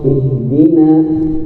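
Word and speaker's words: اهدنا: jadi hati-hati di nunnya di nunnya itu nampakkan ihdina ihdinasiratal mustaqim shnya walaupun salah satu dari huruf istilah sad tebal tapi pada saat inya kasrah ketebalannya berkurang drastis.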